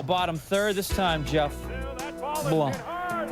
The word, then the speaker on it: Blum: Still bottom third, this time Jeff Blum. Rhymes with plum, rhymes with home run.